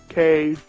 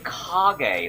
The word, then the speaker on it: Kage: Cage. The ninja. It's supposed to be Kage, like the Japanese word for shadow.